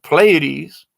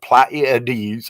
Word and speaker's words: Pleiades: If an ET, if they have been telling me for years that it's Pleiades, seven sisters, and somebody else comes up with Pleiades or some kind of weird different pronunciation, it's